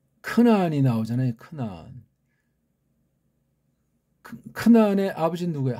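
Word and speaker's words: כנען: 이건 우리가 한글 번역으로 가나안이 아니에요. 크나안 그렇게 발음하셔야 돼.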